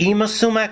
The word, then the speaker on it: Yma Sumac: photos and let's keep ima alive is it ima sumac am i pronouncing it properly that's right may we keep